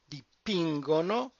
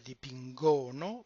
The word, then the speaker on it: dipingono: I'm returning to the same point again with loro, dipingono. We would expect it on the dipingono, but it moves up one syllable and it is dipingono.